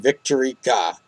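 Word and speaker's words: Victorique: to mention her name victorica that's how it's pronounced in Japanese but it spelled like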